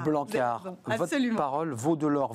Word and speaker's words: Blanckaert: On ne prononce pas le T. Non. On est d'accord? Non, c'est un nom flamand et AERT se prononce A. Blanquart, votre parole vaut de l'or.